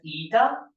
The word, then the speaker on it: eta: This is pronounced as eta rv.